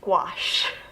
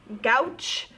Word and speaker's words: gouache: take a step back it's pronounced gouache i can't tell you how many times i've heard gauche guachi gucci like that i've i've heard so many different ways of how it's pronounced it's gouache just like you're washing your clothes in the washing machine but with a gu in front of it gouache now what a gouache